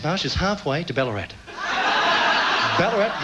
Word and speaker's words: Ballarat: Ballarat rhymes with cracker fat.